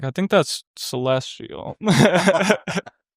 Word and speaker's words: CLSTL: Anyways, it's just, you know, good vibes and yeah, so I know that the the letters because there's no vowels in your name. It's pronounced celestial.